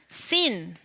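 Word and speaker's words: שׂ: 네, 이 글자는 네, 점이 어디에 붙느냐에 따라서 발음이 달라지는 거예요. 네, 점이 오른쪽에 붙어져 있을 때가 쉰. 네, 왼쪽에 있을 때가 sin.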